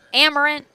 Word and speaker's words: Amerant: Hockey, Amerant.